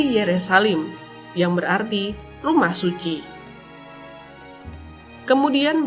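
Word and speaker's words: ירושלים: Kata Yerusalem berasal dari nama ini yang diucapkan dalam bahasa Ibrani menjadi Yerusalim, yang berarti rumah suci.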